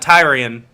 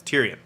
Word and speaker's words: Tyrion: get the names right it's not tiring it's Tyrion how do you watch